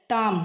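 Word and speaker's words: tomb: भेड़ का बच्चा तो यहां पर भी बी साइलेंट है टाम टाम माने होता है मकबरा मकबरा माने भी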